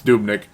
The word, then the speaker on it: Dubnyk: Devin Dubnyk, I hope I'm saying it right, Dubnyk. Dubnyk, whatever. No, it's Dubnyk.